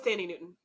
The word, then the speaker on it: Thandie Newton: Oh, it was Thandie Newton.